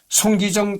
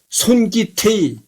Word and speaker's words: 손기정: 읽은 것에 불과했다 올림피아 슈타디온 베를린의 수장자 명패는 손기정 대신 손기태이라고 기록되 있다 그러니까 이제 손기정이라는 거를